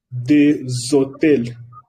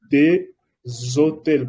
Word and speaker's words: des hôtels: En el caso también de hotel, se pronuncia un hotel, significa un hotel, des hôtels, des hôtels, porque empieza con un H y S se pronuncia Z.